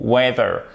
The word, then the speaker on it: whether: blanc ou noir, souvenez-vous, whether. Et c'est exactement, attendez, hop là, c'est exactement la même prononciation que la météo en anglais. Comment on dit le temps en anglais? Weather.